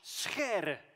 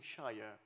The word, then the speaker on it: Scheere: My last name is Scheere. That's how it's pronounced in Dutch. Scheere. We have a lot of the g sounds in Dutch. We sometimes say Dutch is not a language, it's a disease of the throat. And that's why we have the Scheere.